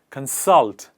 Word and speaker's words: consult: that is called consult the focus is on the second part salt and we put the focus on the second part of the word and we say consult whereas when we add